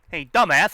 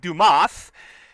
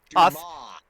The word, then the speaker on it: Dumas: or just saying a dumbass, I mean Dumas. Dumas. What? The S is silent.